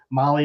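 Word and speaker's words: Mahle: And for all of you podcast listeners, Molly is spelled M-A-H-L-E.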